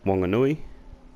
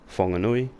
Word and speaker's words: Whanganui: V is a place called Wanganui or Whanganui, depending on how you say it.